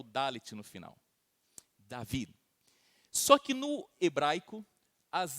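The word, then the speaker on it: דוד: Seria pronunciar mais ou menos assim, David, um D um pouco mudo no final.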